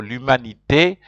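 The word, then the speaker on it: l'humanité: used to them so lumanite you have to pronounce the E because there's an accent on that's why the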